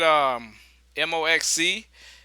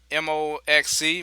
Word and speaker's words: MOXC: Hey, we I don't know if you guys do like me, but I say I pronounce the symbol. I know that's kind of crazy. You're supposed to say MOXC. I just say Moxie.